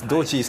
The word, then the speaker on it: Doji: We weren't sure exactly how to pronounce Doji's name in English. Well, in Japanese it's Doji.